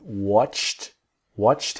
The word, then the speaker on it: watched: So watched him is a T, watched him, watched him.